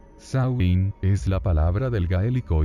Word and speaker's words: Samhain: mundo ni al otro samaín pronunciado sauin es la palabra del